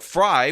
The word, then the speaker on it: Frey: Democratic mayoral candidate, Jacob Fry, which should be pronounced Frey, but a lot of you corrected me and said it was pronounced Fry, is beating his socialist